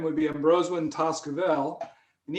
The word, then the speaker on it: Embrosewyn Tazkuvel: full name would be ambrose when toskavel and each one of those sound syllables m rose win vel each one has a